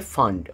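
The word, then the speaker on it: Pfund: আর last হচ্ছে ফান্ড। ফান্ড কিন্তু প্রথমে পি থাকে। বাট পি এর উচ্চারণটা কিন্তু উচ্চ। আমরা শুধুমাত্র যেটা বলব সেটা হচ্ছে ফান্ড।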